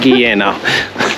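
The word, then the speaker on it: Guillena: Okay, so we've finally made it to Gaena, Giena Giena. I think I think we're going to settle on that pronunciation, Giena.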